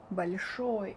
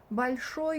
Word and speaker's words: большой: Большой, it's pronounced like a, not большой, but большой, because it's not under emphasis, as I had told you before.